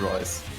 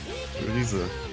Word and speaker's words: Rise: Not Rice. Rise.